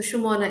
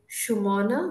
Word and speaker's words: Sumana: So people from Northern and Western India, for instance, I'm in Northern India, I'm in Haryana at this moment, they often call me Suman, dropping the vowel at the end.